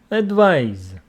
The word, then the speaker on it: advise: and the second one it's a verb advice advise okay that is for the sake of your